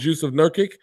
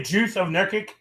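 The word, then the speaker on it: Jusuf Nurkić: Did you just say Juice of Nurkic? Jusuf Nurkic. That was his name. Jusuf Nurkic. Sound like you said Juice of Nurkic. What the? That's exactly how you say it.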